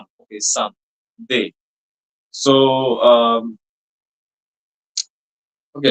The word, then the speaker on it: ce: S. All of you pay attention to the pronunciation.